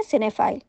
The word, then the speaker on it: cinephile: आई एल ए और इसे हम प्रोनाउंस करते हैं सिनेप्ले इसका उसे यानी संख्या